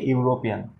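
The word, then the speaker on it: European: বন্ধুরা এই যে এখানে ভাওয়েলটা দেওয়া আছে এটার উচ্চারণ ইউ, তাই জন্য এখানে আমরা অ্যান ইউজ করতে পারবো না, এ ইউরোপিয়ান।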